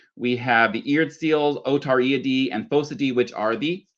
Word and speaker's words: Otariidae: The next one is Otariidae. Okay, now you might notice there's two eyes in a row, so we're going to pronounce it Otariidae.